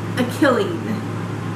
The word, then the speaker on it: Akiline: Akiline. It's like A-K-I-L-I-N-E. I'm not quite sure how she's pronouncing it. I think it's like Akiline, Killy, something like that, maybe.